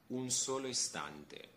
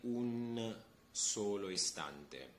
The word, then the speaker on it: un solo istante: We don't have to pronounce the N at the end like an entire N, okay?